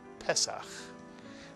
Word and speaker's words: Pesach: And words that tend to have a segol at the beginning tend to be accented on the first syllable. Pesach.